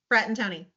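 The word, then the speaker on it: Fratantoni: And we've got special guest Mike, and I'm going to say his name wrong, Frattanoni. See, Mike, I'm going to need you to say it. You were there, Frattanoni. Frattanoni.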